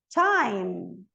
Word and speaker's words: time: Então, é theme, e o E não pronuncia, ó. Theme, termina no M. Team, time, time.